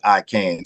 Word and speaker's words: Aiken: Aiken, right? Aiken Arts or Well, it's Aiken? actually it's pronounced I can. So it's like a play on words.